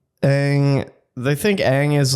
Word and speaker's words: Aang: Ong. Ong is how you're going to say it. Isn't it Aang in the No.